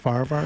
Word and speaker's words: Farahvar: I'm like the H is quiet. It's just Farvvar.